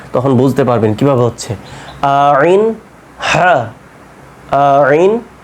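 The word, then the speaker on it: عين: দুইটা আর কি তখন বুঝতে পারবেন কিভাবে হচ্ছে আইন হা খেয়াল করেন আইন যখন বলছেন এই এই জায়গাতে গলার মধ্যখান হতে উচ্চারণটা হবে আইন আইন তারপরে কি হা আইন হা খেয়াল করেন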